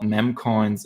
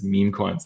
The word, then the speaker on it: memecoins: dictionary of your pronunciation so it's not memcoins, it's memecoins next time.